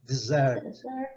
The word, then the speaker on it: dessert: Então, você vai decorar agora aqui dessert, porque a sílaba forte é a última, porque a sobremesa é a última coisa da refeição.